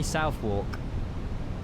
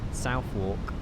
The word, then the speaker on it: Southwark: How do you say Southwark? Southwark.